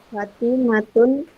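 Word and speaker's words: فاطمة: itu kompetensi halaman m23 tidak boleh dibaca fatimatun harus fatimatu contoh atasnya juga Aminah perempuan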